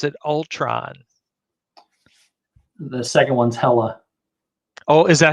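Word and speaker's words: Hela: hilo or was it ultron the second one's hella oh is that how you say it yeah hella okay then it's probably not that one oh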